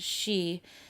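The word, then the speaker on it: Sídhe: The Tuatha De Danann were also called Aes City, Sidha, or city, pronounced she, as in Gaelic word meaning fairy mound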